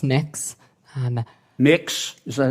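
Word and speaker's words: Mx.: what you're you're proposing it's pronounced mix um mix is that how you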